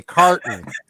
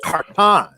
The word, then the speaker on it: Khartan: say my clling on name and they say carton as in as in carton I'm like no no no it's Kon you know you got to get those accents